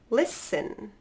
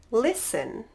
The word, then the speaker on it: listen: its hustle and bustle great next one Christmas listen soften good one more time hustle and bustle Christmas listen soften all right last letter is the silent